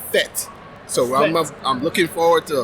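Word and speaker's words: fête: pet peeve for me they have been announced uh pronouncing the party fate now if you are from Jamaica you're from Trinidad it's a fit so I'm looking forward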